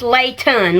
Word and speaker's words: Leighton: But right now it's Layton, like Layton, Reece.